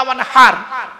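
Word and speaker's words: وانحر: হ্যাঁ, ইন্না আতাইনা কাল কাউসার ফাসাল্লি লিরাব্বিকা ওয়ানহার, ফাসাল্লি লিরাব্বিকা ওয়ানহার, ওয়ানহার নয় ওয়ানহার। এই গলার ভেতর থেকে হেটা উচ্চারণ করবেন।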